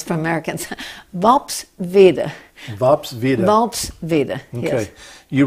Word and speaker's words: Worpswede: It's difficult to pronounce for Americans. Vopsvede.